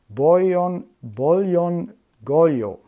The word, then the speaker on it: Bolyongolyó: But now I asked some Hungarian friends of mine, and they actually told me it's called Bolyon Golyo. I'm trying to pronounce this correctly, and apparently it's a